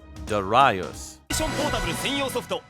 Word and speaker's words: Darius: and furious starting with darius burst the pronunciation in japanese is darayus the katakana for this is broken down with the syllables with the end trailing a bit as naturally done in japanese languages i was then pointed